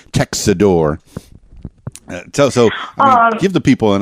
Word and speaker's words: Tecxidor: There's a lot of syllables in there. They jammed the C in the middle of that. Tecxidor.